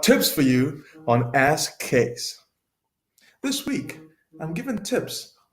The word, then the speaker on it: Chase: Lee Bell case it's spelled with an H pronounced without JD PhD doctor of